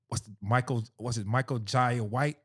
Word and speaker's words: Michael Jai White: Michael Jai White?